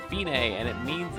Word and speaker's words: fine: It looks like fine, but it's pronounced fine, and it means it's the end, the finish.